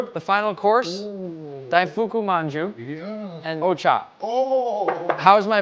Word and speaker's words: お茶: The final course, Daifuku Manju and Ocha. Oh, How's my pronunciation? お茶。